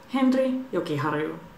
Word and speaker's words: Henri Jokiharju: Henri Jokiharju.